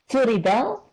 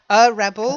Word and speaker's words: rebel: I noticed that the pronunciation of rebel, to rebel, To that rebel. is different than Rebel. rebel. Yes. A rebel. Okay. A rebel rebels.